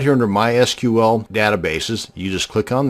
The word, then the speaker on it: MySQL: to create a mysql database and yes it's pronounced mysql not my sequel so the next time you're at a dinner